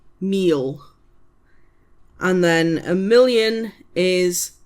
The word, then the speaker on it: mil: M I L meal.